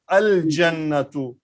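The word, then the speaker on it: الجنة: So in Haruf al-Qamariya, what he wanted to tell, when these letters will come after Lam, we have to pronounce Lam. The Lam will be vocal. Al-Abu, Al-Babu, Al-Jannatu, Al-Himaru. So if these letters are coming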